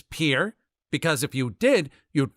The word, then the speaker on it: Pierre: capital of South Dakota Pierre wrong she kept saying Pierre two syllables like the French name and he said it was Pier one syllable like what you fish off of he